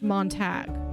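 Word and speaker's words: Montague: is spelled the exact same except here it's pronounced Montag oh you're glis okay so yeah I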